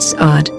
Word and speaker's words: SARD: a handy framework called sard pronounced say like you're prolonging the sad until you're happy where each letter stands